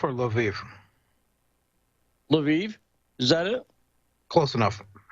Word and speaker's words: Lviv: Lvov or Lviv? Lviv?